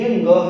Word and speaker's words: ङ: इसका उच्चारण अड़ नहीं होता। संस्कृत व्याकरण में या हिंदी व्याकरण में कहीं पर भी अड़ वर्ण है ही नहीं, वर्ण विस्तार में ये ङ है, ध्यान रखिएगा, अड़ नहीं है, ये ङ है।